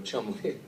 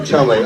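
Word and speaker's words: Cholmondeley: Jack is John's grandson, and he's the son of Tony Huston and Lager, and you know, I can't pronounce this. Lady Margot Chumley. Margot Chumley, okay.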